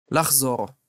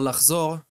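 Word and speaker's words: לחזור: Well, lachzor has a chet and we can hear it because we're actually pronouncing it out loud.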